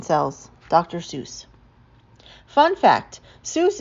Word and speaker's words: Seuss: Fun fact, Seuss is supposed to rhyme with voice, not goose.